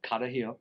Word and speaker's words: Carajillo: I had to say it the right way because I don't have a good way of pronouncing it, but it's Carajillo.